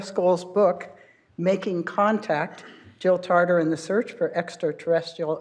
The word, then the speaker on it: Tarter: Jill Tarter or it's am I mispronouncing it is it tater oh it Is Tarter okay it was still as in potatoes what would it why